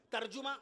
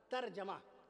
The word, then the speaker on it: ترجمہ: کر دوں آپ سے، ترجمہ نہیں، ترجمہ نہ کہا کیجئے، ترجمہ۔ عصر کی نماز نہیں،